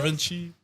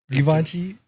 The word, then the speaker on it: Givenchy: Brvenchi? Givenchy.